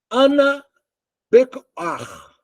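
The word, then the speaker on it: אנא בכח: Ana Bekar. É como se fala em hebraico.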